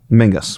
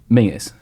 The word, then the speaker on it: Menzies: just um explain one how you pronounce the man's surname Mingus I think it's it's Mingus Mingus it's my aunt's maid name is Mingus Scottish thing yeah it's GIC thing then why is menz's Campbell pronounced Ming Campbell why has he got